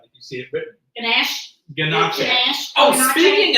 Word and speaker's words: ganache: Earlier you said ganache.